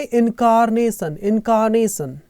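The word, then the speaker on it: incarnate: बोलते हैं with my इंकार्नेट ये आर साइलेंट होता है इंकार्नेट हो मेरे अवतारों के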